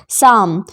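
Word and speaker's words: psalm: हथेली है जिसका अर्थ शाम पी एस ए एल एम यहां पर पी भी साइलेंट है और एल भी साइलेंट है शाम यानी भजन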